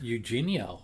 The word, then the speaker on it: Eugenio: It's Eugenio. It's a I think it's AU. No, they I found out yesterday it's Eugenio.